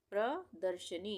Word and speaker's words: प्रदर्शनी: प्रदर्शनी। प्रदर्शनी, यहाँ पे प में ये पदेन की मात्रा लग गई, तो यहाँ पे हम प को आधा पढ़ेंगे और र को पूरा पढ़ेंगे।